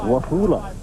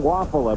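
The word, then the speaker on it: Wafula: for a ball game it was wahula that's right he changed it's always been waffle but he said he was pronouncing it wafulla so that everyone would spell it correctly so at least we got to play right his name is Waffle as in Belgium too many pounds and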